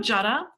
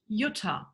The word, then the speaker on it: Jutta: very often oh hello jaada jaada my name in German is pronounced Utah right I show to